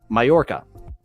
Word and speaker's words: Mallorca: than I do and it is a y sound like I saw that and I knew it I I just looking at it I'm like there that's that's probably not the English pronunciation Mallorca Majorca am I in